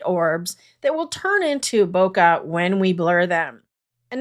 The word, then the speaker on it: bokeh: look in photography, and you'll hear many people pronounce it different ways. Everything from bokeh, bokeh, bokeh, which is correct. I've Googled it many times, and the closest that I can get is kind of like bokeh.